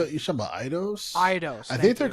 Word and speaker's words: Eidos: Iodus. Tomb Raider. I know I'm in the Uh, ballpark of pronouncing Ido. it. You talking about Eidos? Eidos.